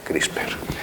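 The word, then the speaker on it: CRISPR: eh Por lo menos crisper es una palabra que incluso los ingleses no saben muy bien cómo pronunciarla nos inventamos que hay una e por ahí en medio y ya está crisper las Estos son las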